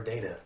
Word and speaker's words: data: does it stand for is it data or data i use them interchangeably it's not good i